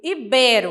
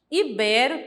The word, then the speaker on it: ibero: de Deus próximo é ibero a ibero também é uma paroxítona e geralmente a gente